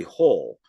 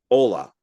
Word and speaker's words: Hole: character's name would be if you were to pronounce It in America would be har whole just h o l e and that's not how you pronounce it in Norway it's it's like Ola so it' be like Harry Ola and that's and so